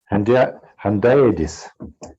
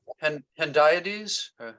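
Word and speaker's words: hendiadys: I just rendered it with a Russian handaides. Am I right in pronunciation of this term in English? When we say the same thing with two words. Yeah. Hendiades? Handaides. Yeah. Handaides. The accent is in handaides.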